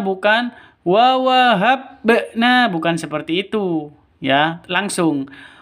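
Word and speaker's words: وَوَهَبْنَا: Kalau bacanya qalqalah itu seperti itu. Bukan mati terus dipantulkan, bukan. Wa wahabna, bukan seperti itu. Yang betul wa wahabna, habna, seperti itu ya.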